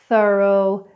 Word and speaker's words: thorough: Now the silent GH is often in words like drought, through, thorough, daughter.